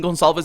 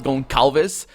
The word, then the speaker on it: Gonsalves: It sounds so weird to me, even pronouncing Gonsalves as Goncalves, because that's definitely not what it is. That's really, really not what it is. That's like saying, oh, I'm going to the theater, and saying theater.